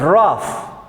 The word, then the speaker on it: rough: Many words in English we finish in G-A, you say F, rough.